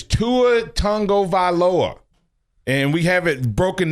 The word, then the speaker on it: Tagovailoa: It's Tua Tagovailoa. And we have it broken down in how to phonetically announce it, Tagovailoa.